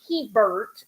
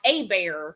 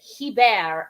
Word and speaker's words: Hebert: that is not how my family pronounces it because they're from Canada and they pronounced it he bear up there is how they would say it.